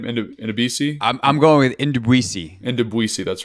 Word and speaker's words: Ndubisi: Ndubisi, that's right.